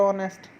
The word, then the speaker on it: honest: So we put N before the honest. Okay. The letter H is silent in the word honest.